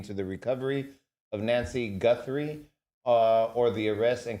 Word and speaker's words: Guthrie: Do you need me to spell it? Gunry. G. Guthrie.